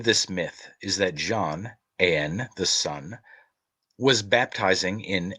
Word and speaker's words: Aen: In this myth, John, Aen, spelled A-E-N, E-I-O-N, and A-I-N, three forms of the word and all pronounced Ain, represents the redeemed and